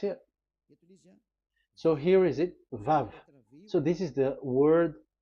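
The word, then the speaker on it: וו: So the word, the shape Vav is really pronounced V, like Vogue.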